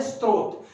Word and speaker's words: स्रोत: हम इसको इस प्रकार भी पढ़ सकते हैं, लेकिन ध्यान रखिएगा ये स्रोत है और ये स्रोत जो है इसका उच्चारण नहीं होगा, इसका उच्चारण है स्रोत। तो आप लोगों ने ये पढ़ना है कि स के साथ में त्र नहीं लगा है, बल्कि क्या लगा है कि स के नीचे र लगा है।